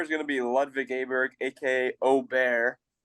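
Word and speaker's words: Åberg: gonna be LV gber AK Oar which is the official pronunciation I can't say it like that I gotta say Aber Berg so ludvig gonna get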